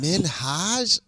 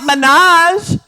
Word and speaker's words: Minhaj: name is Hassan Minhage Minhaj. I mean not with such an emphasis on the Haj. I mean it's it's it's a lighter touch than that but it's not Minaj.